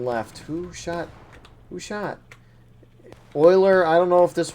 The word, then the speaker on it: Euler: Major props to Euler, if that's how you say it. It's almost like Oiler, like the Edmonton Oilers.